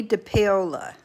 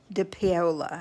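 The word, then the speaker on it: dePaola: artist his name is Tommy de paola de paola I think is how you say it he's Italian like daddy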